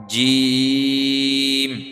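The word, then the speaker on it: جيم: হবে নরম হরফ এটা জিম জিম জিম জি জিম এটা হল শক্ত হরফ ঠিক আছে এটা একটু শক্ত করে উচ্চারণ করার চেষ্টা করবেন জিম জি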